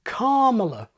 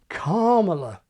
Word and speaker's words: Kamala: So it goes against this trisyllabic shortening to put a long vowel in the first syllable of Camelot or Kamala.